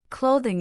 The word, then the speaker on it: clothing: Clothing is pronounced cloth ing with stress on the first syllable.